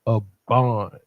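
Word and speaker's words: אבן: And then you have a buh and a nuh. So it's not but nuh, right?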